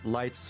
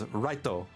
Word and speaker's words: Light: People swore that Light's real name is Reto because, you know, that's how they pronounce the L's over there in Japan. But it's actually Light. His name is legit light, but they don't know how to like say the L.